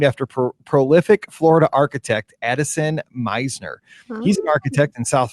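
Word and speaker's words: Mizner: It's Meisner, not Misner. See, but you got to realize my school is Mizzou, M-I-Z-Z-O-U. I just put it together, so because he phonetically wrote it out, and I'm like, anything with M-I-Z-Z, like it's just anything close is going to be Miz with Mizzou, but it's Meisner's.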